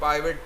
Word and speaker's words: pivot: तो ये एक ज़बरदस्त ऑप्शन है जिसे हम पिवट टेबल या कुछ लोग इसे पाइवट टेबल भी प्रोनाउंस करते हैं।